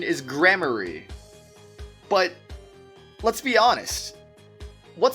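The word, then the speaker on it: Gramarye: And I don't think I really care, to be honest, because apparently the real pronunciation is grammary. But let's be honest. What sounds cooler? Grammare or grammary?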